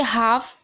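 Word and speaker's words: half: दूसरे में देखिए हाफ एफ से पहले एल है तो एल साइलेंट है।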